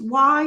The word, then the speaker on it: Wy: I believe is not last name is pronounced why it's just spelled Wy Emily Melody's daughter testified